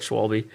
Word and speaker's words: Schwalbe: The SCHW that makes like a V sound. Schwable.